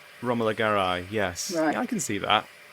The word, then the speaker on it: Romola Garai: Maybe something like Romola Garai, is that how you pronounce it? I did look her up. Romola Garai, yes.